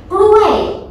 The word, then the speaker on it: กล้วย: the interesting slang word กล้วย what does this mean กล้วยกล้วยกล้วยOkay, okay, this is good one. กล้วย falling tone นะ This word is dangerous if you pronounce not correct.